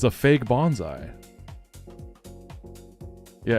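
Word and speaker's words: Bonsly: I see a lot of people saying Bonsley, but like look at it. It's a Bonsai tree. Like look at the design. It's Bonsai. Bonsai. It's right there.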